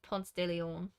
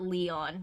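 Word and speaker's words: Ponce de León: pronunciations as a foreigner it's definitely Ponce de Leon not Leon yeah it's Ponce de Leon but it's just it's the southern accent I think a little bit people are like Ponce de Leon and I'm like okay even I in my muddled uh Georgia accent know that it's Ponce Stadium um branch is not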